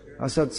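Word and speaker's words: असत्: verse srila prabhupada quoted assad you have to pronounce that properly you say krishna bhakta has exactly the opposite meaning so the symptom of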